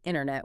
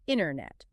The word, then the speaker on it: internet: So, we don't say internet, we say internet.